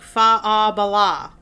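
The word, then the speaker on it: Faugh a Ballagh: It sounds like Fa-a-Bala. That's how it's said. Fa-a-Bala. It means clear the way. And it's spelled really funky because it's Gaelic. So, anyway.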